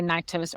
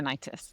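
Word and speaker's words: Nyktos: But it's like so I always say Niktos or Niktis is what I always say. I go back and forth on it My myself.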